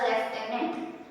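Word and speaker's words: lieutenant: ल्यूटेनेंट वाली स्पेलिंग है लेकिन we will pronounce it एज अ लेफ्टिनेंट.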